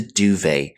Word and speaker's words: duvet: A blanket which is filled with feathers and commonly found in European countries is the duvet. This is a French term, so we don't pronounce the T here.